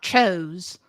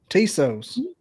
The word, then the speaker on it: Tso: chicken like TS o it's not chos I look I barely speak English I am out in the appalachin mountains and I can say it right okay okay you schooled